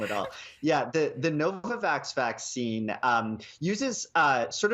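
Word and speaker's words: Novavax: come to you uh Health Canada approved the novoxovid vaccine back in mid-February what makes it different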